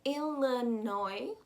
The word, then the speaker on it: Illinois: to go down to illinois again we've got a silent s a la noi and we're going to